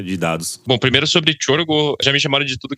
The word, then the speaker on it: Csorgo: Porque o nome do Tiorgo, gente, pra quem não sabe, escreve C-S-O-R-G-O, mas se pronuncia Tiorgo.